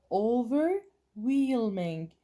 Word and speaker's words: overwhelming: خلينا نيجي لهاي ننتبه للpronunciation overwhelming. انتبهنا انه الاتش هون silent وهون لفظناه whelming وي كأنه بتحكي وي whelming.